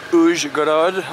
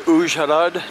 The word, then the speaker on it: Uzhhorod: Good afternoon, day number two here in Uzhgorod, or Uzhhorod, depending on how you choose to pronounce it.